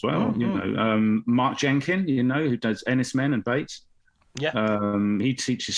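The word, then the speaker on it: Enys Men: Ennis Men. Yes, it's pronounced men, isn't it? It's because the word is for an island. It's Cornish for island, apparently.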